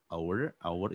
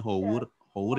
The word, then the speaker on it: hour: Hour itu bacanya, tulisannya hour ya. Bacanya hour. Bacanya hour.